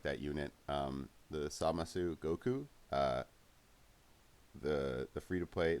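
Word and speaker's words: Zamasu: So again, we have Samasu and Gowasu and Samasu. If you're wondering why I say it that way in the show, that's how they say it, and I actually think it sounds cooler that way anyway.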